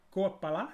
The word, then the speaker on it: Koepala: So hey, I'm here with Ben from Koepala. Did I pronounce it correctly?